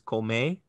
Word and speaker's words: come: now you know the third person singular present tense is komei spelled c-o-m-e but maybe pronounced call me in fast speech you get ella call me now if i